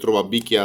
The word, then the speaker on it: روبابيكيا: ملابس قديمه ربع بيكيا بس هي بالايطالي هي مش بيكيا هي فيكيا ربع فيكيا بس هي بتنطق ربع بيكيا عشان ده نطق الجنوب يعني في بعض المناطق في الجنوب ايطاليا بتنطق حرف الفي بالبي يعني فهي الكلمه ايطاليه